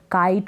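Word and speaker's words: kite: जैसे क, आई और ट, काइट हो गया। लास्ट में जो ई है ना, इसको आप प्रोनाउंस नहीं करेंगे।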